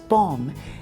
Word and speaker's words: bomb: Kapag sinabi nio Jay ay bomb, parang katunog niya ay balm para sa akin.